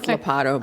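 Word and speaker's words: Ladapo: Oh, Labada. I can't ever say it correctly, so forgive me. It's Lapato, but, There- and so,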